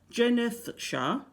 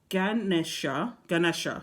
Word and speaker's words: Ganesha: Ask Jenethsha, I can't pronounce that, Ganesha, that's it.